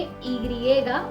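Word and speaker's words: i griega: Alphabet Y को Spanish में ईग्रिएगा बुलाया जाता है और इसके प्रोनाउंसिएशन अलग अलग तरीके से अलग अलग जगहों पर किए जाते हैं और सभी ठीक है।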